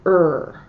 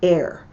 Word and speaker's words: err: The word is, some people call it err. That means to make a mistake. I pronounce it err.